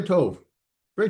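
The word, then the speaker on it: טוב: Very to. Very to you, brother. Uh means good. And uh so to this is a monoselabic word, right? One syllable. Tove. um it's endingless in the masculine singular form, right?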